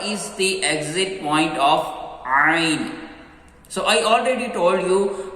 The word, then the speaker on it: ع: Ain. Yes, this Ain sound is also light. Be careful, don't read Ain. Ain. Don't do round your lips. Don't pronounce Ain.